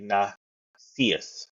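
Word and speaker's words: nescius: root word of necessius, which is spelled Nesius, and it's actually Nacius. That's how you say it. I wasn't pronouncing it right.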